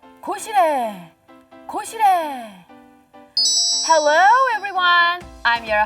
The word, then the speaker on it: 고시레: 고시래.